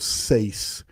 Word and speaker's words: Sais: Next thing Plato said is that Solon heard of Atlantis from the priests of Sais in Egypt. For those of you who want to spell that, it's S-A-I-S.